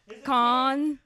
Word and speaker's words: Cannes: Cannes. Con. I always feel weird saying con because it sounds like a con, like.